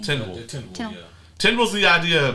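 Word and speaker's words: Tindwyl: Tindril.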